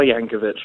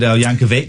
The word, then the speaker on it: Yankovic: the next Weird Al Yankovich ladies and gentlemen thank you very much indeed I'll take that as a weird Yankovic is actually pronounce Yankovic it's a hard see been on the show